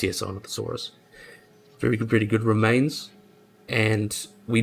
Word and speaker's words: Sinornithosaurus: I think it's Sinornithosaurus. Yes, Sinornithosaurus.